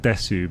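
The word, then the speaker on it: です: Or, well, it's spelt desu, but it's just generally said des.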